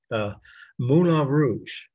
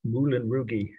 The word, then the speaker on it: Moulin Rouge: would be Moulin Rouge, or if you're from Indiana, Moulin Rougey, as my aunt from Kokomo used to call him. She knew all about the artist. She just couldn't pronounce foreign people's names.